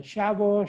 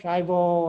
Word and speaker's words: Schiavo: this is the last it's an italian last name and you know my